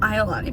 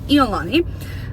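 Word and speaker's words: ʻIolani: I previously when we started this vlog called it Iani Palace and we learned that that is not how you say it. It is Eani.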